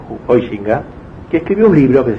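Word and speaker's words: Huizinga: cremosa de malawi sica hoy finca se dice pero nadie lo pronunció así juan hoy chica que escribió un libro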